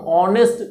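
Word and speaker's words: honest: है हम ऑनेस्ट pronunciation ऑनेस्ट है ना कि नेस्ट है अगर नेस्ट होता तब कंसोनेंट की बात आती है और तब ये ए लगता लेकिन यहां पर एच साइलेंट रहता है ऑनेस्ट बोलते हैं ऑनेस्ट ऑनेस्ट इज द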